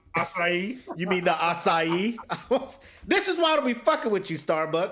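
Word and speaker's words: açaí: there I was like can I get the strawberry aai refresher he was like you mean assai assai you mean the assai this is why be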